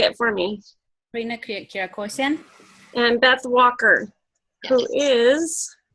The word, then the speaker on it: Kirakosian: Did I pronounce that right? That's correct. Joel Calderon. Yes. Corinne Kirakos, you say it for me. Rina Kirakosian.